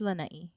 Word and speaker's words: Lanai: yeah, Is it Lanai or Lanai? it's Lanai. We have to pronounce all of our vowels. That's true. Like you have to put some emphasis on the e. the the I, it's an I. Well, it's an I, but the sound is like e.